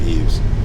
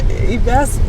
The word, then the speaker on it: Yves: I call it Eves. I know. Yves preferred. Yves has told me that I pronounce it right.